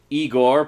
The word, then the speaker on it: Igor: we of course meets Igor PRO story pronounced I Gor played by the always